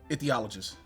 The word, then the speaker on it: ichthyologist: THY. THY, excuse me. Ichthyologist. Say that once more. Ichthyologist. Ichthyologist. Ichthyologist. Sorry.